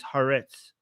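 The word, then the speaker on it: Haaretz: Okay, so somebody is you know correcting my pronunciation saying by the way Armen it is is Harets.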